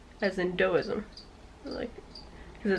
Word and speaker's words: Taoism: Taoism is actually, even though it's a T, they pronounce it dough, as in Taoism.